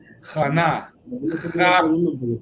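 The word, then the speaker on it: Chana: Jana. Ja y na separado.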